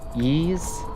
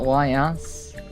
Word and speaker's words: Ys: see that last time pronounced e not Ys I have never played